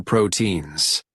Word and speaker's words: proteins: Meat and other proteins. Nuts. Okay, listen that the pronunciation is proteins, not proteins, right? Proteins, proteins. So we don't pronounce the E.